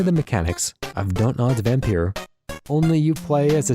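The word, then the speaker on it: Vampyr: So if we're going to spell it with a Y, I pronounce it vampire because that's how Van Helsing, played by Anthony Hopkins, said it in Bram Stoker's Dracula, which is one of my favorite movies.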